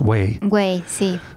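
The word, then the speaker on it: güey: talking about the word wait wait wait it pronounced like well it's almost like waa why in English way way but spelled g ue y in Spanish mm-hmm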